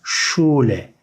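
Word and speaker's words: Schule: S, C, H, Ş şeklinde okunuyor arkadaşlar. Bu Ş şeklinde okunuyor. Mesela şule, şule. Bu şekilde yazılıyor ama buraya Ş harfini koyuyoruz. Şule şeklinde okuyoruz.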